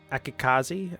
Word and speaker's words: Akikaze: The newest one, the Akikaze. Yeah, that's how you pronounce that.